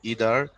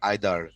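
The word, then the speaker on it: either: ভাইয়া, ইদার কেউ কেউ বলে ইদার, কেউ কেউ বলে আইদার। ইদার ও কারেক্ট, আবার আইদারও কারেক্ট। হ্যাঁ, তুমি যে কোনোটা বলতে পারো।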